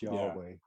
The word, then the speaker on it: Yahweh: And you try to say those 2 combinations, and that's is or Yah, depending on how you say it. Then Weh. So it's a breathing in and then a breathing out.